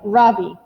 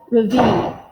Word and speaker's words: Ravi: My name is not Ravi, he says. It's pronounced Ravi.